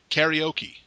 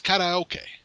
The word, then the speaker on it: karaoke: say the English pronunciation karaoke mm-hmm it's kinda okay okay yeah kinda okay is how it's pronounced in Japanese but everybody in my hometown would sit karaoke like well it's kind